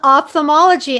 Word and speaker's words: ophthalmology: how to pronounce ophthalmologist, and I think I pronounced it wrong. No, that was actually really good. It's called ophthalmology, and I remember when I first decided to enter that subspecialty.